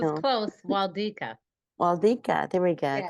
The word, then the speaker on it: Wlodyka: Wlodyka. Did I say it correctly? Yes, it's No. close. Wlodyka.